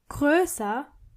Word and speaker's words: größer: You have to keep in mind that when you use this adjective, you have to change O into O umlaut. So it's groß, but größer and größte.